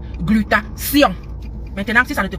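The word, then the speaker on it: glutathion: dans la technique d'expression, on m'a appris que T H I O N se prononce. comme s I o n. Donc ma chère, ça se dit glutation.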